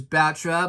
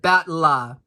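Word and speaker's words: Battra: spell her name wrong it goes b a t t l a like batla but it's not it's not batla it's batra I'm going to repeat that it's batra not batla batra and here's um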